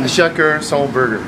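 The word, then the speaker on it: à chacun son burger: But how do you pronounce that? In... Achacur son burger.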